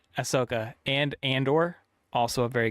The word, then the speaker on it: Ahsoka: people liked Ahsoka very much so that's how pronounced the name Ahsoka Ahsoka and Andor also a very good Star Wars